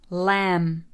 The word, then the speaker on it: lamb: Lamb, lamb.